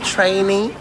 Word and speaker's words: training: Training. En fait, ça se prononce training.